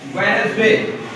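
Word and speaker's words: Wednesday: अच्छा, इस तरह साइलेंट डी, साइलेंट डी, हाँ जी, ये बड़ा मशहूर लफ्ज़ है, देखिए आप, वेडनेसडे, यानी इसमें आप डी नहीं पढ़ते, आप बजाय इसके कि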